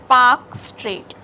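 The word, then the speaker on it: Palk Strait: street is called as P AE L is silent Park straight that is called as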